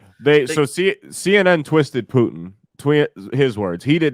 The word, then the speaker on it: Putin: war and i quit how come you keep saying putin man is that how it's pronounced no it's definitely putin i'm sorry i didn't